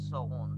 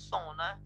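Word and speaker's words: sauna: to take Sona by the way it's not Sona as pronounced and English its sound it's the only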